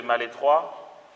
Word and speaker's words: Malestroit: Comment se fait-il que Mère Yvonne Aimée de Malétroit, Mère Yvonne Aimée de Malétroit. Vous voulez que j'écrive? Mère, vous savez, ça, Mère Yvonne, ça va. Aimée de ça s'écrit Malestroit, mais on dit Malétroit.